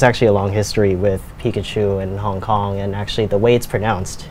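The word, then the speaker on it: 皮卡丘: But then recently, 3 years ago, they decided to change it to the Mandarin pronunciation, which is Pikachu.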